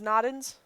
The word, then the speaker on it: Nodens: If anybody knows how to pronounce that, I'll type it in. It is Nodens.